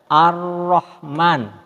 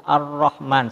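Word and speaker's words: ar-Raḥmān: ada di grup roh jadi cara membacanya ar-rahman ini kalau seperti dalam bahasa Indonesia tanda tas di seperti Huruf roknya itu Arabnya airnya itu dua huruf dicuri ar-rahman seperti itu Nah ini yang tanda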